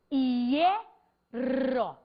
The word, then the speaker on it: hierro: Só que a prosódia, a pronúncia maior, não está recaindo sobre o HI. Ela está recaindo sobre o E. Então, imagine você que a sílaba é isso, hierro.